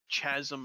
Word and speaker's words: chasm: from the moist, demanding chasm of his mouth. Chasm. Is it chasm? Yeah, it's no, chasm. I thought it's the H chasm. Is silent, retard. The H is silent.